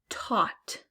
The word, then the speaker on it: taught: Taught. Taught. There's a GH, no F sound.